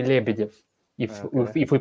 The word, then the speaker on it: Lebedev: it's like like in in english pronunciation would say okay levitive and that's not too bad right yeah yeah that's not not too bad but still not uh not russian way i said the english